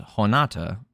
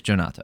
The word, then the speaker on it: Jhonata: though I think Brazilian it's not pronounced hona no it wouldn't be anyway never mind it is jonata okay I'm not crazy